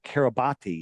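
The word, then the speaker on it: Kiribati: wide, and it's registered to the country of Kabati. Have you ever heard of Kabati? It's pronounced Kabat, but it's pron it's spelled Kabati.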